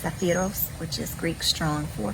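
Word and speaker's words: σάπφειρος: it's hebrew strong 5601 in greek is uh pronounced saphiros which is greek strong four five five two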